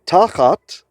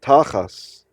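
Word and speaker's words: תחת: So tachat, it ends in a tav without a dagesh. In Ashkenazi pronunciation, if there's no dagesh in the tav, it's an S sound. So tachat in Hebrew is read tachas.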